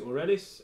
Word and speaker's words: Aurelis: today's item is the Aurelius or you could pronounce it or Ellis it's a one-handed sword